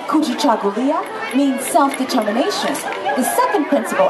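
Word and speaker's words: Kujichagulia: for ourselves and our families even his name Ki chaulia means self-determination the second principle of kza can you say his name for me say kui kui chulia chulia kui chulia kui chulia yeah that one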